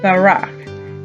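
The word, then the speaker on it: ברך: and our last new word is and that is spelled bait Resh cough Barack and Barack means to bless to bless good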